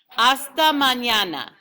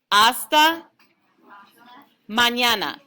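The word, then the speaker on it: hasta mañana: let's do that again hasta manana the h is silent okay like as in pasta without the p asta manana very good oh this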